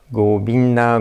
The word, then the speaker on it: Govinda: on the last one you put the focus on the last syllable da so it's cool being da that will be the last part let's try it together Govinda Govinda Govinda Govinda Govinda